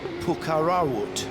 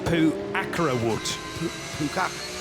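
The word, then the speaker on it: Phuakkarawut: It's Dekatha Thorn Pukarawut. Pretty sure I haven't pronounced that right. Puakarawut. Puakarawut. Why don't you say it like that, Johnny?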